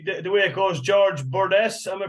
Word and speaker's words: Burdess: as as usually the way it goes George bordes am I pronouncing that right you are yeah bordes welcome to the Irish hunting podcast how George